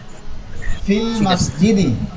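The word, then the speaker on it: في المسجد: কোনো একটা হরফ থাকে, তখন ওই হরফের উচ্চারণটা বাদ পড়ে যায়। আর এটা কি উচ্চারণ করাও সম্ভব না, এই জন্য সহজভাবে বলা হয় ফিল মসজিদি।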